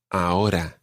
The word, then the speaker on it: ahora: Now, the R in ahora isn't really rolled. It's more like a flick that happens somewhere just above your teeth. Ahora. Ahora. Ahora. It's not ahora or anything like that.